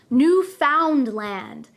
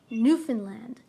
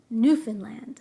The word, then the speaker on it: Newfoundland: Be careful though, many people who are not Canadian try to pronounce this word as Newfoundland. We do not pronounce it that way. We say Newfoundland, Newfoundland.